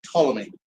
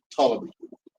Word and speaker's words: Ptolemy: So the king of the south was General Ptolemy. Starts with a P, but the P is silent. Ptolemy.